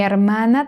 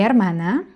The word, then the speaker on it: hermana: Mi hermana between A and E even though there's an H in between, it is silent.